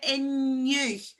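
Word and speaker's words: inniu: And there's actually, if you listen to the in you, because it's followed by an I, it's the soft N sound, in you.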